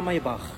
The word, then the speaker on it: Maybach: Et la Maybach, c'était Maybach, on dit Maybach en allemand.